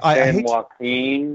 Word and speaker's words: San Joaquin: Anyway, San Joaquin, maybe? I don't know. Yeah, you know what? That's, that's probably... Listen, dude. What? You are the shit. You, man. You don't pronounce the J, Mark.